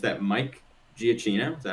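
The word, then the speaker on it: Giacchino: And it's that Mike GCino, is that how you say his name? Michael Jino.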